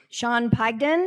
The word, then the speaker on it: Sean Pagden: Sean Pagden. Is that how? Is there? Yeah, Sean. Is that how I pronounce it? Absolutely. Sean did a wonderful job here.